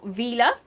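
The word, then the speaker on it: Vilja: The second lot of potatoes that I've gone for today are Vila, or Wilshire. I think they're spelled Wilshire, but I think that's pronounced Vila.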